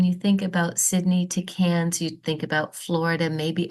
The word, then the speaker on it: Cairns: Now it's spelled Cairns, but it is pronounced Cairns like a tin can.